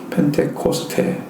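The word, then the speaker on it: πεντηκοστή: 헬라어로서는 펜테코스테라고 읽습니다. 펜테코스테, 50일째 절일의 번역어가 오순절.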